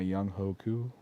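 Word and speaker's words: Younghoe Koo: young Hoku facts yup he told a reporter that's how you pronounce it I was like oh I'm gonna try to remember that but that's oh I know it's young way bud oh goes way better but the the coup being pronounced who was weird I don't know K's are pronounced with an H I guess I don't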